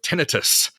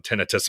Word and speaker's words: tinnitus: on the pronunciation of tinnitus i have had some tinnitus myself and that's how i've always said it but also the pronunciation tinnitus sounds too much like a joint affliction tendinitis so people could confuse